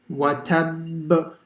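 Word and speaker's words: وَتَبَّ: It means wherever you stop, you have to make an echoing sound. And because this one has a shadda, you have to put even more emphasis on it. So that's why you pause for half a second.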